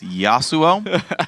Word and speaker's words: Yasuo: very well though is how to pronounce the name Yasuo it's Yasuo probably otherwise though I gotta